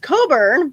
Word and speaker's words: Cockburn: odd we have a street that uh is pronounced coburn but it's it looks like coburn but it's